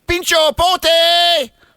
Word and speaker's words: Pincho Porte: It's Pincho Porte. That's how they say it in the Basque country of San Sebastian.